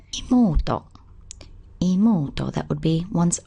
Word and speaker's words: 妹: On its own, it's pronounced imoto.